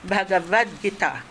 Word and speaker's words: Bhagavad Gita: And I said, "Oh, how was it pronounced?" "Bhagavad Gita."